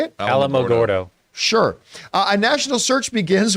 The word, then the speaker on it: Alamogordo: Alamogordo.